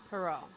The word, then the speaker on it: Pierrot: none other than Jersey City native himself, Pierrot.